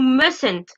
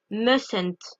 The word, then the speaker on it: mustn't: Et pour finir, must, donc qui devient must not ou mustn't. Là, attention. La prononciation, on ne prononce pas le T de must. Mustn't.